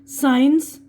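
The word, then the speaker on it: science: एस की आवाज आ रही है सेंट इतर साइंस साइंस सीन मंजर नजारा जिसे बोलते यहां पर बी की आवाज साइलेंट है कोम कंगा यह कोम बोल र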